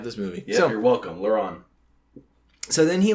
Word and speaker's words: Laurent: Laurent. What a weird name, man. Thank goodness we have this movie. Yeah, you're welcome, Laurent.